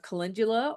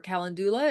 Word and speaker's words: calendula: um we have H calendula or kalandula it's just depends on how you want to pronounce it this one actually